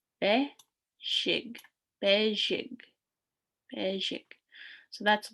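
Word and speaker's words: bezhig: So be, shig. Be, shig. Be, shig.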